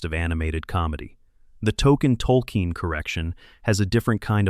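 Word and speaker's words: Tolkien: In season 25, the show revealed that the character's name was actually Tolken, spelled like JRR. Tolken, the author of The Lord of the Rings, and that everyone, including the viewers, had been misharing and misspelling it for 24 years.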